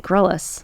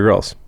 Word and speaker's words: Grylls: Wait, that's how you say that? I always said Grylls. No, it's Bear Grylls.